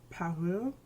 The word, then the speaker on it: Parure: Okay, so Guerlain has this line called, listen, I can only pronounce this word in French. I don't know how to pronounce it in English. And in French it's pronounced something like Parure.